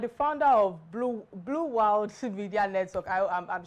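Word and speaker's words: Wyld: the B what bu Wild Media bu Wild Media okay but the pronunciation of the world is w y l d yes B wild B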